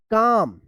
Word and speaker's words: calm: इसको क्या पढ़ेंगे, तो काल्म पढ़ेंगे, नहीं, गलत होगा, इसको पढ़ेंगे काम, यानी एल यहाँ पे भी साइलेंट रहेगा।